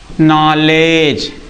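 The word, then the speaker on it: knowledge: ई डी जी ई इसे हम क्या पढ़ेंगे नॉलेज क्या पढ़ेंगे नॉलेज पढ़ेंगे ना कि नॉलेज ये डी साइलेंट है।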